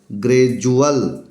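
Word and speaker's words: gradual: देखिए जी आर ए डी यू ए एल ग्रेजुअल ग्रेजुअल it means क्रमिक it means क्रमिक अगर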